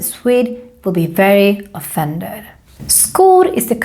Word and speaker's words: skor: Because in Swedish, when we have SK together with a back vowel, like we have here, the O is a back vowel, then it becomes a K sound. So that's why we say skor.